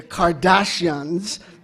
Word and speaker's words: Kardashians: The Kardashians, which would be the correct Armenian pronunciation, are in fact are Armenian.